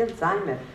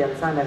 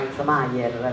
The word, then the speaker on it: Alzheimer: e la malattia di Alzheimer La chiamavano isomeyer perché non la sapeva pronunciare nessuno ed era ancora peggio era